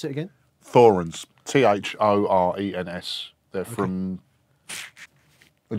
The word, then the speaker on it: Thorens: Thorens, TD-160. Pronounce it again? Thorens, T-H-O-R-E-N-S.